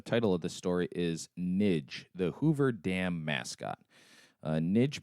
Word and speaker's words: Nig: So I'm going to pronounce that Nidge, just because I don't want this to be conveyed, I guess, inappropriately in any way, because that's obviously not the point of this podcast.